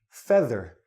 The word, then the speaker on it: feather: will find out that this word is pronounced feather this EA sounds like this e e Fe feather this EA sounds like